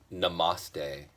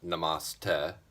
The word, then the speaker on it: Namaste: Um, Yesterday at Nate on Steam It brought up the question of what is what does Namaste mean?